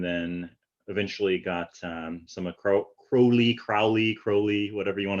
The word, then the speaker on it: Crowley: eventually got um some crowley crowley crowley whatever you want to say right if you think me holy if you think me holy call me crowley if you think me